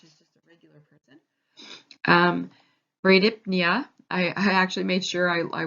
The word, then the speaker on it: bradypnea: Bradypnea, I actually made sure I went to a pronunciation thing to say this. So bradypnea. So Brady, same thing as our Brady, meaning slower.